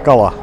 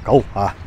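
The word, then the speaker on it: Калъа: Так, крепость Кала, походу, найдена. Да, именно так, крепость Кал, твердый знак, А. Произносится, наверное, Кал-А. Не Кала, не крепость Кала, а Кал-А.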